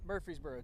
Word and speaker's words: Murfreesboro: Wood today, it's in Murfreesboro, Tennessee. Just south of Nashville. Murfreesboro, okay.